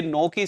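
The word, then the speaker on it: knock: के एन ओ सी के में भी के साइलेंट है। नॉक पढ़ते हैं और नॉट इसको पढ़ा जाता है।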